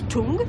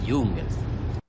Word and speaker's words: Jung: Tu es sûr que ça se prononce Jung? Ce serait pas plutôt Chung ou Jung? Non, t'es pire que les enfants, c'est Jung.